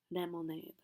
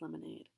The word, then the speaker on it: lemonade: when saying this word the Japanese student pronounced it lemonade it was by and large similar to how we would pronounce lemonade however it was using instead of uh the English L he was using the J the Japanese r l sound which is not correct for English the um IPA transcription